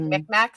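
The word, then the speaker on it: Mi'kmaq: Said like McMack, thank you so much, Young Whezy.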